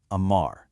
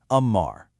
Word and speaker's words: amar: Amar. Just two simple syllables, but they basically carry the weight of the world. The mechanics for this one are wonderfully simple, with that wide, open ah sound.